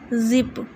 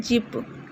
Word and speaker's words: zip: Zip. Not jip.